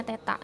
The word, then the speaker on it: theta: Ya, ini dikasih tahu ya cara bacanya theta kayak gitu.